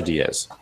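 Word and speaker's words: Díaz: Is it Diaz or Diaz? It's Aledmys Diaz. Diaz, okay.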